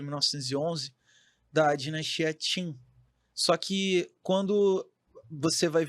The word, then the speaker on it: Qin: Eles leem com Q e pronunciam errado.